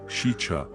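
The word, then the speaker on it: Sica: Sika hollow, pronounced shicha, means evil or bad in the Dakota language.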